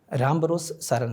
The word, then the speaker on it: राम भरोस सारण: आपका नाम सही उच्चारण क्या है नाम का? राम भरोस सारण सर।